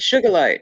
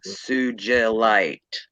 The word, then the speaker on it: Sugilite: And I said sugar light, and she says, it's Sugalite.